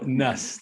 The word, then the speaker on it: Nuss: So it's Nuss, right? Like bus, but with an N. Yeah. So Nuss, Nuss.